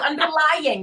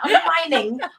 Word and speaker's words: underlying: Let's say it correctly. Underlying, not underlining.